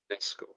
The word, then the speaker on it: UNESCO: 1996 wurden 4 Gebäude in Wittenberg zum, we pronounce it as if it was a German word, so UNESCO Weltkulturerbe ernannt. UNESCO.